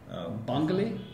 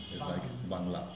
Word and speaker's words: Bangla: learn some Bengali and how do you pronounce Bengali bangali Bangla so see I can't